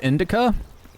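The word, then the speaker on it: Indika: It's called Indica, like the weed but spelled with a K.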